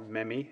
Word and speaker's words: meme: saying things um uh best meme or memi as some people pronounce it the best memi I've